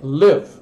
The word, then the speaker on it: live: Letra I, fechada, curta. O E não pronuncia. Live, morar, viver.